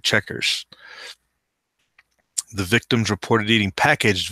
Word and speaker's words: Chequers: What I was calling Shakur earlier, because I didn't know how I would have pronounced it in the French manner. I guess they call it Checkers with the QU in the middle of the